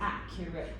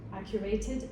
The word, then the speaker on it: accurate: Accurated does not exist. I know. And the word accurate has the accent on the first syllable. Accurate, not accurate.